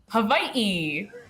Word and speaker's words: Hawaii: Hawaii.